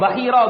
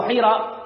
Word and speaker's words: Bahira: by the name of Bahira or Buhaira. It's two ways that's mentioned in the kitabs of pronouncing the name. Buhaira or Bahira, the Rahib, the Christian monk.